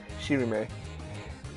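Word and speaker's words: しりめ: Oh, because it's Japanese. Yeah, it's Shirime.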